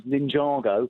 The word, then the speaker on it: Ninjago: You see, Now, I know it looks like Ninjago, but the correct pronunciation is Ninjago.